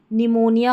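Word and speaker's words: pneumonia: तो यहां पर भी हमारा पी साइलेंट रहता है इन स्पेलिंग्स में। तो इनकी भी प्रैक्टिस कर लें। निमोनिया हो गया, न्यूमैटिक हो गया, न्यूमैटिक्स हो गया।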